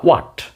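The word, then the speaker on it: what: আবার এটার উচ্চারণ অনেকে হ উচ্চারণ করে, হ কিন্তু নয়, অ্যাকচুয়ালি প্রোনাউন্সিয়েশন হবে হোয়াট। দ্যাটস হোয়াট I thought, এটাই আমি ভেবেছিলাম, এটাই সে চাইবে।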